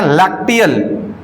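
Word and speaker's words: lacteal: कुछ इस प्रकार दिखेगा और यह जो दिखाई दे रहा है इसके जो ऊपर वाला टिप है इसको बोलते हैं लैक्टियल लैक्टियल एल ए C spelling होगा एल ए सी टी ई ए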